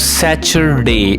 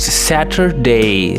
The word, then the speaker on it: Saturday: from the Saturday, and it's not Saturday as most of the students pronounce. I know that it's Saturday. There is t sound in the center, Saturday.